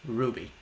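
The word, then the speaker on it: RWBY: could you maybe react to r y by pronounced Ruby I know confusing very in case you don't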